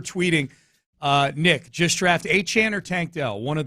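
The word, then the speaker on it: Achane: The one thing that disappoints me about him is just that he pronounces it Achan. Whereas Achain is a badass name.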